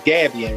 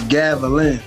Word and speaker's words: Gavilan: you on the Hold on, what's the right pronunciation for your college? Gavian, right? You said who? See? The college that you went. Yo, it's Gavilan.